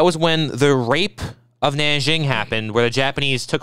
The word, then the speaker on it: Nanjing: not much of China I think this is pronounced Nanjing I don't know sounds about right but in